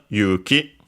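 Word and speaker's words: 勇気: And then we have what happens when you hold the sword Yuki which means courage. Let's check its accent. Accented on the first one. Yes. Yuki.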